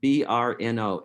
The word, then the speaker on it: Brno: time today it is the town of brno b-r-n-o and in the czech republic it's pronounced like brno but with a roald r which i can't do burno uh and it was a big city it